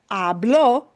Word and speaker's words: habló: But hablo is really the same pronunciation, but it punches, puts stress on the end.